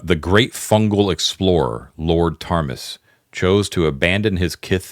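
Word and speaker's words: Ptarmis: Deeds of tus and tus is spelled PT a r m i s Deeds of Tas the Deeds of Tas and the fragment Deeds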